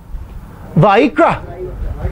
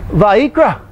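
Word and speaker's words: ויקרא: Vayikra. Vayikra. You remember, because how it's spelled, the I's are E's. Vayikra.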